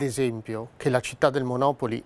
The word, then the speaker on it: Monopoli: di commercializzare il gioco mantenendo la pronuncia originale anche nell'italianizzazione del nome. Il gioco infatti uscì con il nome di Monopoli e non Monopoli, come ci si potrebbe aspettare, senza più la Y finale, ma con un accento